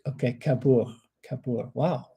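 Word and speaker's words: Cabourg: The G is silent. Okay. Kabor. Kapor.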